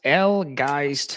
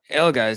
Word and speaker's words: Elgeist: My name is pronounced Elgeist. Elgeist. Elgeist, yeah, it's like the word disguised in English, like disguised, just Elgeist.